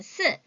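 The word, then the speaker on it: 四: 발음 헷갈리지 않으셔야 돼요. 4는 스, 10은 시, 4는 스, 10은 시, 1은 2, 7은 치, 1은 2, 7은 치, 6은 레오, 9는 지오, 6은 레오.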